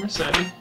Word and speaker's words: Recette: Yes, I'm Recette. I am an agent of the Termini Finance Company. I'm assuming the E is silent.